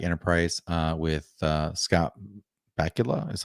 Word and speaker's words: Scott Bakula: of people don't like enterprise uh with uh scott bakula is how you pronounce his name um but i love it